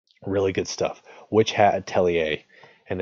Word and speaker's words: Atelier: good stuff which had telly a and Atelier is a French word it's spelled a te l IE r you can read this